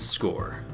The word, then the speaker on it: SCOIR: So what exactly is SCOIR? Simply put, SCOIR, which is pronounced like scoring a touchdown, S-C-O-R-E, is an innovative, user-friendly platform